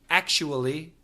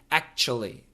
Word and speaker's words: actually: w there act act actually however most Americans just say it in three syllables act actually actually actually actually but